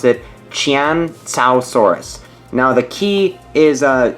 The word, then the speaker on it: Qianzhousaurus: what I discovered is basically you're supposed to pronounce it Chan Chow Saurus now the key is a you parents the